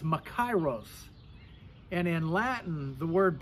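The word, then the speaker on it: μακάριος: in the greek language the word blessed is pronounced macaros and in latin the word blessed is biates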